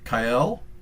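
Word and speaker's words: Kael: would say start with kyle this is the new i think official pronunciation of who we used to call kale like the vegetable um but you know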